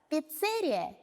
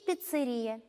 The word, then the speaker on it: пиццерия: Знакомое вам слово «пиццерия» и «пиццерия» имеют 2 абсолютно равноправных варианта. Если вы произнесете слово «пиццерия», вы будете правы.